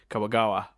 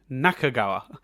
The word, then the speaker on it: Nakagawa: most see yourself in are nanahara and um kawagawa now now nakagawa goddamn i i knew i was getting mispronounced some names doing this um but what